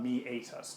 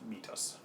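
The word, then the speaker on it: meatus: call a canal or Amy ATIS this term does have three syllables to it me 8 us not to meet us I did kind of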